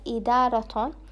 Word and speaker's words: إدارة: Then open the closed ta into an open ta, making the word to become idarat, idarat, and not idara.